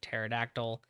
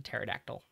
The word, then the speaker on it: pterodactyl: Way that you can remember this, if you want to, the pterion has a silent P like pterodactyl.